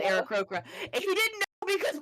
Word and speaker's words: Aarakocra: And there's other ways to pronounce it, but I pronounce it Aarakocra.